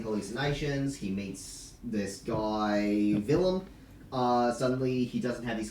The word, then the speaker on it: Willem: Willem. It's Willem. Willem, Willem. not Willem. Vilm. Oh, Willem the villain. Willem. Okay. Think Willem. Willem Dafoe.